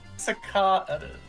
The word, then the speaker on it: cicadas: The buzzing kicadas and you who will never come back. Kicadas. How do you say it? Sicadas. Sicadas. Okay, it repeats again.